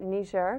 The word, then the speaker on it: Niger: uh you served in Niger West Africa um they actually pronounce it ner because it's a frankophone country and it's um just